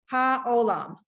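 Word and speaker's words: העולם: That's silent. Whoa, where did it go? You keep wanting to make that a Y. Haolam.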